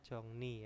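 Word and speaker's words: 정리: keberanian Ibon di sini ada apa jongri dibacanya jongni ya jongni itu adalah merapikan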